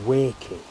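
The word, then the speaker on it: Weiki: It's the male variety called Wakey. Not as in the colloquial form of the city where I used to live called Wakefield, but it's spelled W-E-I-K-I.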